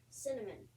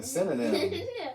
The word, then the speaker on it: synonym: Let's chunk up the syllables on that. Okay. Sin, O. nim.